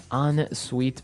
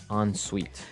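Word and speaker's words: en suite: UI t e so even though it's e n we pronounce it like an o n yep on sweet so an on Suite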